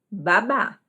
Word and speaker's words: babá: Viu a diferença? Baba, babá.